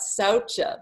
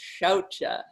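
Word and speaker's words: śauca: asham are Shera so most of the time this is taught SAA but it's not SAA it's shouta so what's this one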